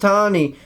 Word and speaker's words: Tanny: That's pronounced Tawny, but spelled Tanny.